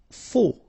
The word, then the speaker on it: faux: Faux. Okay, final X not pronounced, then you get this AU together, O, faux.